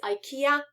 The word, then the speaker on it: IKEA: dining chair from ikea be careful about pronunciation it's ikea it's different from polish yeah and i have